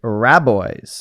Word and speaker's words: Rabois: co-founder slams wait say his name slams keith rabboise we had to watch a few videos to